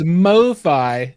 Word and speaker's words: MoFi: Joining us tonight is John Durda from MoFi Distribution. And let me just tell you, I've wanted to call you guys Mofo Distribution so many times. Some of our guys have that title. It is MoFi Distribution because I is that just short for